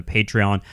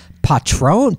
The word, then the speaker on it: Patreon: lot more stuff on pop culture on the patreon uh I'm I'm you notice I'm pronouncing it correctly now Danny since you corrected